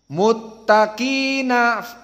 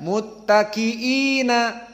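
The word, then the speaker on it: مُتَّقِينَ: muttaqiina maka dihilangkan hamzahnya Lalu bagaimana dibacanya dibaca sebagai Mad thbii'i saja maka kita baca qiraah Abu Jafar muttaqina muttaqina seperti itu bukan muttaqiina tapi muttaqina fiha Alal Arik la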